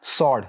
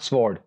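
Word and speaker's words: sword: उसके बाद जो नेक्स्ट वर्ड है उसमें डब्ल्यू साइलेंट है. इट्स सॉर्ड, नॉट स्वॉर्ड.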